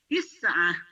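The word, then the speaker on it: تسعة: Angka tulisannya seperti ini dibacanya Tiah tisahain lagi tisah tisah selanjutnya ini angka 10 tulisannya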